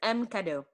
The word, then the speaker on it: Emme Cadeau: Marcella is the designer and founder of Emme Cadeau. Did I pronounce that right? Close. It's Emme Cadeau.